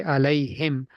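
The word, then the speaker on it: عليهم: so Allah then but when you attach a pronoun with it the yah dots comes back and it is not allah anymore it is alim we do we we pronounce yeah we pronounce the yah we say allay him yeah or allayhe or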